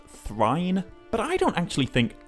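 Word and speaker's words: Thráin: more than anything else, this name should be pronounced Thrine.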